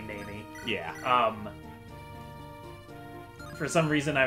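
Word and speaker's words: Neimi: But, like, I would pronounce Naimi as Niami. Oh, I didn't even... Which I don't... That one is, like, I before weird. The E type of thing, which is not the case here. It's definitely Naimi.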